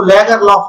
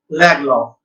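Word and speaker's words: Lagerlöf: इसको लैगरलॉफ मत पढ़ना आप, इसका उच्चारण है सैल्मा लैगलॉफ।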